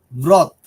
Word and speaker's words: wrath: Bright, avarice, lust, wrath or anger சொல்லுவோம். wrath, அத W நீங்க உச்சரிக்காம கூட சொல்லலாம்.